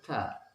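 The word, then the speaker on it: ت: Kemudian huruf yang ketiga, huruf ta. Lidah menempel di gusi atas. Ta. Lidah tidak boleh keluar. Ta. Ta. Bukan huruf T tapi ta.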